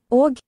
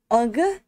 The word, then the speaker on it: og: Og. You kind of hear the G at the end, but it's soft. Not ugh, it's og.